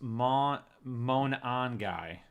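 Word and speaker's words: Monangai: Uh Jesse said it's pronounced mon guy.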